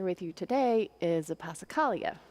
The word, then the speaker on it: passacaglia: you today is a pacala which is fun to say pacala but harder to spell and so in my head it's passacaglia so I remember how